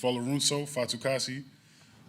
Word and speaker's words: Folorunso Fatukasi: I'll go to pronunciation first. Folorunso Fatukasi.